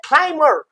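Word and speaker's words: climber: तो क्लाइम एक यहां बी साइलेंट है तो ये क्लाइमर यहां ये बी साइलेंट रहेगा।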